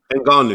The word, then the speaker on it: Ngannou: But you've just mentioned this gentleman here who's sorry, how do you pronounce his name? Ngannou.